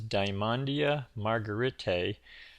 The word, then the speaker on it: Dymondia margaretae: this is dandia margarite I believe that's the pronunciation um some people call